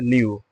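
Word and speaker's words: knew: यूज किया गया है न्यू न्यू मी जानता था ये यहां साइलेंट है लिखते जरूर है पढ़ते नहीं ठीक है ही हैड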